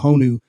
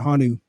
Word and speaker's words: honu: the uh they're called honu hanu honu hanu I think you pronounce it hanu uh the endangered green